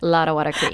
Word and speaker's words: Lottawatta Creek: I appreciate you giving me the opportunity to say Lottawatta Creek. And I'm glad to know that I was pronouncing it right.